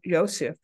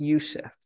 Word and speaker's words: Youssef: and uh Dr Michael Yosef basically says I think it's pronounced Yusef as um writes Jesus